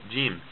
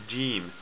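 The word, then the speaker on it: جيم: this group is called jim jim okay and jim it looks like this gene and jim it makes the sound like the english letter j j jim jim some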